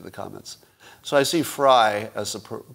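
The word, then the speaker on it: Frei: also got some pushback from viva frey or frye how does he pronounce his name uh barnes and frye f-r-e-i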